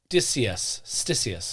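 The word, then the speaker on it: Ctesias: It's Stysius. Okay. I'm going to go Stysius.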